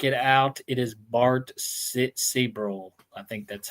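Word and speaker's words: Sibrel: A lot of times when I look at evidence, you got to look at Seabrel. That's how you say it, Seabrel.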